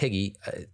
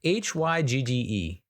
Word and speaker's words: hygge: It's not pronounced Hygge, Hygge. And it's actually, I think it's Danish.